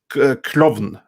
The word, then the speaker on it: Klovn: Klovn. It's clown, but with a V.